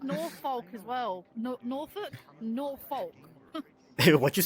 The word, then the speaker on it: Norfolk: It's pronounced s. It is s. It's like Norfolk as well. Norolk. Norfolk.